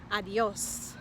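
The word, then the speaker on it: adiós: which would be saying adios adios notice that the accent is on the o and that means that we put the emphasis on the o so we don't want to put the emphasis on the a or the e because the emphasis or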